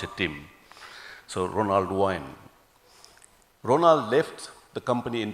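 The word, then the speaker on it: Ronald Wayne: guy called Ronald Wine, or how do you pronounce it, Tim? So Ronald Wine.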